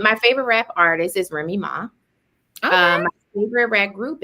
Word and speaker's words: Remy Ma: Remy Ma.